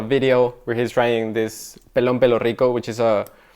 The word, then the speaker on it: Pelón Pelo Rico: So this is, how do you pronounce it? Pelón. Pelón. Pelo. Pelón. Pelón. Pelo. Pelo rico. Pelón. Pelón. Pelón pelo rico.